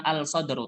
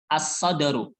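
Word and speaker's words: الصدر: as Syamsu artinya matahari Bukan alsodor tapi assodoru artinya dada artinya dada langsung masuk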